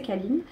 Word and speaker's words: Kalin: Alors, la marque, c'est Kalin. Qui se prononce Kaline. Me demandez pas pourquoi. Ils appellent ça Kaline. Moi, j'ai toujours dit Kalin et j'ai du mal à dire autre chose parce que regardez, il